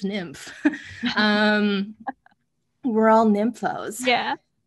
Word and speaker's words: NYMF: nymf they tried to they try to tell you not to pronounce it nymph but that's what we all do um yeah exactly they